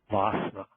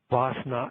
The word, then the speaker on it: Wassenaar: For example, 000 series are controlled by international export control regimes called WASSNA, WASSENAAR. WASSNA export control regimes headquarters in Vienna, Austria.